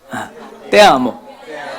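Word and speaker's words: te amo: 전공하신 자매님이 계셔요 사랑합니다 인사를 우리 어 원어민 발음에 준하는 아 그런 띠아모 그든 띠아모 예 자 먼저 해 주시기 바랍니다 그게가 아니라 때예요 가지 그렇죠 그래서 때아 때랍니다 때 역시 역시 예 전공자가 있는게 좋아요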